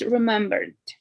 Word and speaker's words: remembered: It's remembered. We don't pronounce the E. Remember.